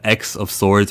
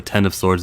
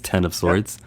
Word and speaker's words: X of Swords: We got X of Swords or 10 of Swords, depending on how you want to pronounce it. If you want to pronounce it correctly, it's 10 of Swords.